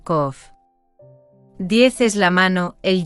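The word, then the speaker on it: קוף: simbólico de la parte posterior del cráneo op pronunciado kof 10 es la mano el yod y el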